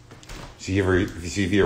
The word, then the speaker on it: Zevia: Zevia rhymes with stevia.